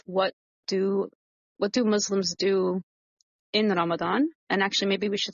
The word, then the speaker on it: Ramadan: Ramadan. Okay, just in case my pronunciation Yeah.